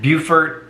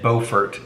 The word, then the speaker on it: Beaufort: so don't feel bad beaufort and beaufort spelled the same pronounced different there's a beaufort north